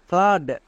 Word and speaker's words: flood: Next আরেকটি দেখো, যেমন ফ্লাড, এখানেও ডবল ও আছে এবং এর ঠিক পরে ডি আছে, তার মানে কি ডবল ও এর জন্য আকার সাউন্ড করব। তাহলে কি হবে? FLOOD, ফ্লাড।